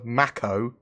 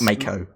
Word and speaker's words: Mako: the reliant variant the mac oh i think yeah great that was Mac oh yeah not make Oh Matt mecco it's a